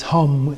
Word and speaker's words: Hum: is pronounced Hong h-u-n-g in Sanskrit it's hum h-u-m both the same thing okay and again